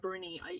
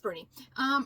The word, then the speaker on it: Bruni: and it's translated by Simon Bruni, is how his name is pronounced, which I found out off the audiobook. I thought it was Bruni because Bruni is also spelled that way as well. But anyway, it's Bruni. So yeah, this book was such a strange book.